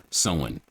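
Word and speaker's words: Samhain: Celtic New Year's Eve called someone but it's spelled like Sam Hayne which you know that's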